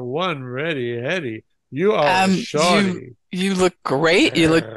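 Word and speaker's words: shawty: And it is pronounced and even written S-H-A-W-T-Y. Like shorty. It's pronounced shorty.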